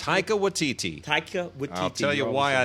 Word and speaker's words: Taika Waititi: I cannot pronounce the director's name, but it's Taika Waititi. Can you pronounce it? Taika Waititi.